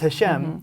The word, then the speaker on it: Hashem: And then in the second chapter, there's another name, one that we don't choose not to pronounce. Hashem. And we'll say it as Hashem, even though that's not how it's written.